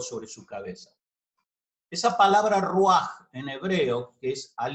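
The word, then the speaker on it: ruach: en génesis esta palabra rúa se escribe rv a ch pero se pronuncia como una jota al final roja y en la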